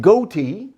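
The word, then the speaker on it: ghoti: maybe we'll never know now let me prove to you that goatee can be pronounced fish all right if we take the sound of gh from the words like cough and rough we get the f if we use the sound of the letter o as it's pronounced in a word like women we get the sound of i if we take the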